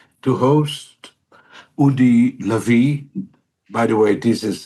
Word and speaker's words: Udi Lavi: We are very, very privileged, I would say, to host Udi Lavi. By the way, this is how you pronounce his name, and very rightly.